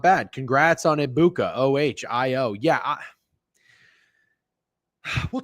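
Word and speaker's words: Egbuka: So it's not Eggbuka. The G is silent uh per a Bucks beat writer that I follow. Uh so Amecha Ibuka.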